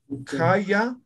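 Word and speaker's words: khaya: No es complicado, mira. Aka, uka, kaya, kuri, ¿no? Simples, ninguna es, no, esto es aspirado, estos dos aspirados, ¿no?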